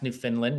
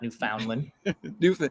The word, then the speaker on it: Newfoundland: myself just like I've learned to pronounce Newfoundland, not Newfoundland. Newfoundland and Calgary.